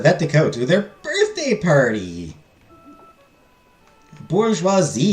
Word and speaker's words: bourgeois: hate never pronounced Bourgeois never pronounce bouris as burgo again it's the Bourgeois the bourgeois I